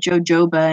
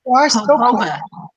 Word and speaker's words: jojoba: I used to pronounce that jojoba, and I only recently learned I had said that wrong all this time. It's jojoba.